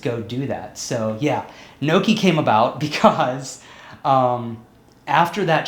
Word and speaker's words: Noki: So yeah, Noki came about because after that show and feeling